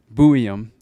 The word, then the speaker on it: Buium: How do you say his last name? Buium.